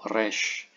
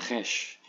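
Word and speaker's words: Resh: kepala ya R jelas nah pengucapannya di bahasaahasit ini seperti bahasa Arab ya Kecuali bahasa Ibrani di Israel di manucapkan seper orangancisitu yaendik ucapan ee keluarga semit lainnya yaitu Res bukan khes kemudian ada lagi huruf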